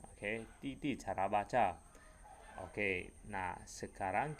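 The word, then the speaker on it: 弟弟: Sedangkan didi ini dibaca titi. Oke, Titi. Karena D di dalam bahasa Mandarin dibaca T.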